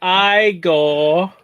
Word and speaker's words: Igor: a face, It's pronounced Igor. They said it was Eagle. Well, they were wrong then, weren't they?